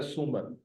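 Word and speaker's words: سومر: scene और वाव आपस में एक ही आवाज की तरफ, सू म र, एक सू पूरी आवाज है, म आधी आवाज है, र आधी आवाज है,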